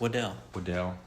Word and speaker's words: Waddle: Apparently it's pronounced Waddell.